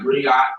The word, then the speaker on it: griot: So it sounds like griot, but it's griot. So the T is silent.